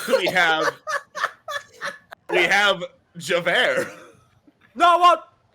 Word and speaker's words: Javert: least we have javert it's actually pronounced javert uh i'm here looking